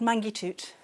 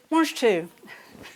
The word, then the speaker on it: mange tout: there if they had mangy toot. Do you have any mangy toot? Fancy mangy toot for dinner? Mange tout. We're not all French. That's how it's spelt, mangy toot, isn't it?